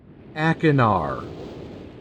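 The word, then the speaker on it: Achenar: that I check on Cirrus and ainar is how this is pronounced I found out so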